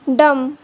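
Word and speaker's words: dumb: B silent तब होता है जब बी से पहले एम आता है तो बी साइलेंट होता है।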